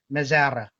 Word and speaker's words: Mesra: It's a Czech name. So when we went to Czech Republic, I asked how to pronounce it. Mezara. So then Mezara.